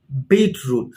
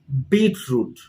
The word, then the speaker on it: beetroot: english we call it beetroot so again the stress is on the first part of the word so pronounce it once more with me beetroot beetroot do you know